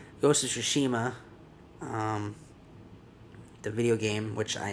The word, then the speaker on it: Tsushima: Sony is making a Ghost of Tsushima. I think the T is not pronounced T. Ghost of Tsushima.